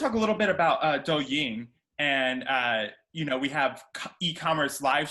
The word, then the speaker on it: Douyin: It's pronounced Douyin, yeah. Douyin.